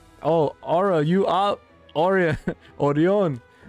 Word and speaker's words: Orion: Orion. Did I pronounce that correctly? Orion. Orion. Come on. We're in the valley. It's Orion.